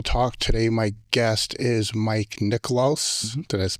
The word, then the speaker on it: Mike Niklos: Today, my guest is Mike Niklos. Mm-hmm. Did I pronounce that correctly?